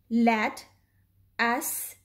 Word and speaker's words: lettuce: Lat us.